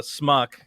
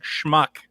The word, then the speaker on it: schmuck: equivalent of calling someone a schmuck a smuck i am pronouncing it wrong schmuck he's like so uh